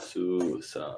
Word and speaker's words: Susanoo: It's Susanoo. For anybody that plays Smite out there like I do. It's Nice. Susanoo. Nice. Yeah. Susanoo.